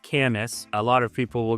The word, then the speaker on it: Camas: And it's pronounced Camis. A lot of people will go kamas, kamas. No, it's it's definitely Camas.